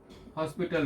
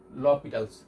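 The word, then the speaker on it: L'Hôpital: যদি 0/0 ফরম্যাট থাকে তাহলে আমরা যেই লটা অ্যাপ্লাই করি that is এল হসপিটাল rule, এটাকে লপিটালস রুলও বলা হয়। ঠিক আছে, উচ্চারণটা এটাই লপিটালস।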